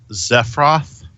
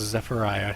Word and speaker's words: Zephyriah: Is that Zephyroth? Is that how that's supposed to be? Or Zephra? No. If you ask her, it is pronounced Zephyriah.